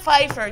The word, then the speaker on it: Pfeiffer: It was spelled with the P, but the P was silent.